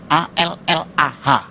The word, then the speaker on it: Allah: Cuma dia membacanya, ngejanya beda sama kita. Kalau kita cukup Allah gitu. Kayak bercanda sama teman aja, Allah lu gitu aja tersinggung gitu ya. Kayak begitu, ringan gitu. Bacanya itu ringan. Tapi kalau mereka itu terpengaruh dengan bahasa Arab. Jadi nggak ringan, Allah.